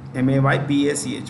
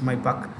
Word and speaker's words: Maybach: Owner of Mercedes, M-E-R, I repeat, M-E-R-C-E-D-E-S, Mercedes, and Maybach, M-A-Y-B-A-C-H, M-A-Y-B-A-C-H, Maybach. You can pronounce it as Maybach or Maybach.